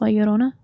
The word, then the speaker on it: La Llorona: several La Llorona. Oh. But I mean, like if you pronounce it how you're actually supposed to, it's La Llorona.